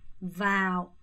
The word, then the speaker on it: vào: 자, 먼저 며칠에 라는 표현을 vào 오 발음 잘하세요. vào 바오 안 돼요. 윗니빨 아래 입술에 놓고요.